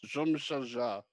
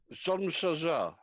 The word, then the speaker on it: Jean-Michel Jarre: I think it's Jean-Michel Jarre. Oh, Salsa! Great job, man. Dude, do it again. Jean-Michel Jarre.